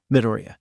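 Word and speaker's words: Midoriya: of the futuristic Dimension pronounced with an upwards inflection on the first syllable midoria isuku midoria of a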